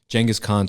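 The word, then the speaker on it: Genghis Khan: Uh the the correct current pronunciation is Jen Jangghis Khan. Oh, is Jangghis Khan Jenis instead of Genghis? I said it before that. So it's Jenis Jenghis Khan.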